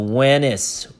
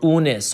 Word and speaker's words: Wenis: This is the biliteral wen, W-N, wen, and then complement n, so wen, and then is, so Wenis, or Unis, or any way you want to pronounce it, but that's the king's name in a cartouche.